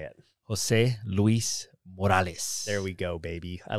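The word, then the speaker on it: José Luiz Morales: Jose Luiz Morales.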